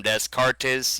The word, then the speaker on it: Descartes: Like I said, Alliance side on Storm Rage, I'm Descartes, you would pronounce it.